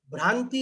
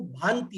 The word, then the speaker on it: भांति: समम भांति है, वो भ्रांति आपने बोला। दरअसल वो भ्रांति नहीं है, उसमें आधा र नहीं है, वो भांति है। भांति मतलब सुशोभित होते हैं। और अपन लोग भांति जनरली सुनते नहीं है,